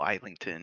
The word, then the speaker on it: Islington: But Islington is correct if it's Yeah.